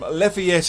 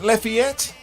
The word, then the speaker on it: Lafayette: Have I pronounced that right? Lafayette? Yes, that's right. There's not really even an agreed upon pronunciation. Everyone kind of says it somewhat differently. It's better than Lafayette. Yeah, Lafayette.